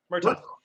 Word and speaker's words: Murtaugh: How do you pronounce it? Murtaugh? Murtaugh.